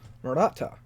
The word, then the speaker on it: Maratha: Maratha. Okay, not Maratha. Again, mispronouncing things kind of my thing.